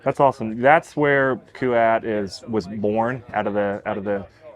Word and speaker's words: Kuat: tuned all right guys I'm here in the kuat booth which I have been reminded three times